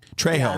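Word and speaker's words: Trejo: you say his name last name Danny tro tro there we go was close Danny tro he's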